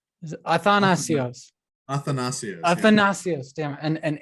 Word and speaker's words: Athanasios: And I want to pronounce it right. Athanasios. Athanasios.